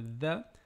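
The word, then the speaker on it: ذ: tandis que pour le dha, on sent une forte vibration au niveau de la gorge, due au fait que l'air ne circule pas librement.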